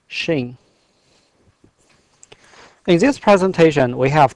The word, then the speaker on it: Xing: just for your information the closest English pronunciation of my last name is Shing in this presentation we